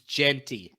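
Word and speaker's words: Jeanty: __ ] how do you say it it's Genty Genty damn it that's gonna Tri me up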